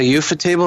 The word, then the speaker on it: Ufotable: I don't know how to pronounce it. It's Ufotable.